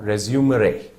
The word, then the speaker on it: resume: is now used and pronounced and spelled as r s u m and pronounced as resume you stress on re and as you may